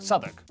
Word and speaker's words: Southwark: W at the start of the final syllable is silent. Norwich, Berwick, Southwark.